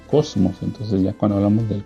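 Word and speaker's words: κόσμος: la palabra ahí es la palabra griega que más o menos se pronuncia Cosmos Entonces ya cuando hablamos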